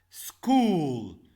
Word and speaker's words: school: School, school. If we have two vowels, it's make like one. We have two vowels, it's here we pronounce it as one. So school is just one syllable.